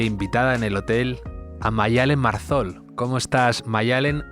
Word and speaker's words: Maddalen: el nombre de Maya, porque al final Mayalen con 2 Ds es complicado, digamos, de entender la pronunciación, ¿no? Y tampoco tengo problema en la gente que dice Madalen, pero bueno, ya que es Mayalen, sonoramente quedaba mejor.